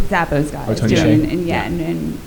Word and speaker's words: Hsieh: The Zappos guy is Tony doing, Hsieh. and Shea, right, in Vegas, and there's like another group